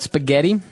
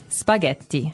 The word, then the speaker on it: spaghetti: And what about spaghetti? Spaghetti. Spaghetti. Oh, you pronounce the double T as well.